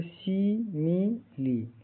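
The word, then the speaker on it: simile: लिए बनाई गई थी एस आई एम आई एल ई का उच्चारण सी म लिए इसके लास्ट में क्या है इ है जैसे शी मी ली यहां तीनों आई का उच्चारण इ छोटी इ की तरह होता है आखिर ई यहां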